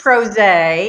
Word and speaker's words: PRosé: you thank you yes this is pros a it rhymes with rose it's two pr pro